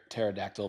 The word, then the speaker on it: pterodactyl: So why can't you hear a pterodactyl pee? Cuz he doesn't exist? Cuz the P is silent. Cuz it's spelled with a P.